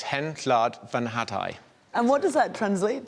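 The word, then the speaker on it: Hen Wlad Fy Nhadau: So it's Hen Llad Fy Nhadau.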